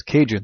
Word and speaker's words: Cajun: became known the cadians became known as Cajun it's a different pronunciation of kadan you probably won't hear